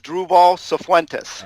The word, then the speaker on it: Druval Cifuentes: You pronounce it as Druval Cifuentes.